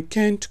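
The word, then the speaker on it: can't: बोलें जी, आई कैंट गो। कुछ लोग इसको कांट भी पढ़ते हैं। दोनों ठीक हैं प्रोनाउंसिएशन, कैंट और कांट, जो आपका दिल हो कहें।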